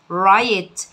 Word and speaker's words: write: الدبليو سايلنت مش هتتنطق معانا، تبقى write يقوم يقف، stand up يجلس، sit down عكس stand up، sit down.